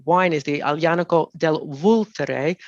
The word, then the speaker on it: Vulture: So it's the wine is the Aglianico del Vulture. The word looks like vulture if it's spelled in English, but they say Vulture.